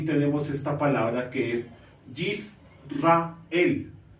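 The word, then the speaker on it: יִשְׂרָאֵל: palabra que es yisrael No y rael sino yisrael por qué Porque el punto que es una vocal I que se llama iric es una vocal corta Por ese motivo esta cheeva no se pronunciaría no se emitiría su sonido y en español pues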